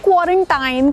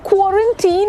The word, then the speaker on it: quarantine: वो क्वारंटाइन नहीं होता है, वो क्वारंटीन होता है। 100 भी क्वारंटाइन बोल रहे हो तो आप प्लीज क्वारंटीन बोलना। That's the correct pronunciation. It is not time, it's teen.